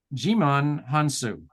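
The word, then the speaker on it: Djimon Hounsou: came up all right his his name is pronounced uh jimon hansu um good very good I'm gonna call him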